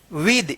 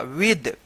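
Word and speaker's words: with: विद इसको विद मत पढ़िएगा। विद टी एच का यहां पे जो है ना द उच्चारण हो रहा है।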